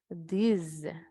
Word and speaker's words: these: Ustedes saben que ese, para hacer la diferencia, ustedes van a decir these, z. Ahora la otra, this. Estos, these, this. Entonces el sonido cambia.